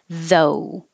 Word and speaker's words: though: you need vibration and the ough is just o though and the american o is two parts oh finishing with ooh not just the and the same would